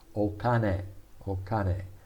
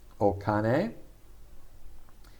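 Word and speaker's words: お金: softens okay we'll see these more and more okane this uh okane is read kin if it was the chinese pronunciation kin and it basically means metal but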